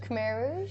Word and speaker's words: Khmer Rouge: Khmer Rouge.